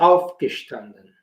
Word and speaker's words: aufgestanden: Wir haben die ganze Woche um 9 Uhr aufgestanden. Entonces, por eso es importante saber que los verbos separables llevan el acento tónico, obviamente, no hay acentos gráficos en alemán, el acento tónico sobre la primera sílaba.